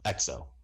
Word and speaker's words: Exo: yeah you have the e so e XO XO is the pronunciation sorry EXO which are